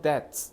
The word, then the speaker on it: debt: 그래서 in all aspects of daily life, 우리 일상에서 from debts, debt이 저 debt라고 읽으면 안 돼. debt, 빚을 좀 드셔야 돼.